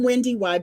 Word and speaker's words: WendyY: I'm WendyY, and most people call me Wendy Y. Yes, you do pronounce the second Y.